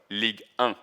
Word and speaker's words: Ligue: Um, one good example is when in the league show uh we have like um a small introduction video and you can see like an international fan saying league one and then someone is saying no no league because that's our identity and that's the way